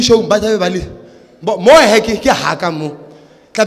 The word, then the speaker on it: Lemo: Again, because it's Lemo, so it's not Limo but Lemo, because it's from Lemo.